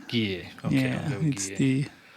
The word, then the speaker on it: Guille: Guille. Guille.